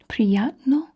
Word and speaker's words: prijatno: Prijatno, prijatno, prijatno, prijatno.